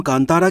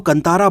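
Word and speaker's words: ಕಾಂತಾರ: Film का जो original title है, एक्चुअली उसको हिंदी रीजन में बहुत सारे लोग गलत प्रोनाउंस कर रहे हैं। बहुत सारे लोग इसको कांटारा बोल रहे हैं, कंटारा बोल रहे हैं और कई लोग इसको कंतारा बोल रहे हैं। लेकिन बेसिकली इसका जो सही प्रोनाउंसिएशन है वो कांतारा है, जो कि कन्नड़ा भाषा का एक शब्द है, जिसका कन्नड़ा भाषा में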